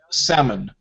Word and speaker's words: salmon: known or KN we have L uh B um for example L salmon the fish yeah or um what